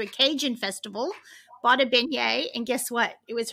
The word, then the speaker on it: beignet: Well, it was the pronunciation of beignets.